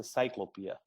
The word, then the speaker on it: Ciklopea: often often called encyclopedia locally here we call it cyclopaea but when it comes to wider international i i think that that the more correct is to pronounce it as a cyclopia and whose idea was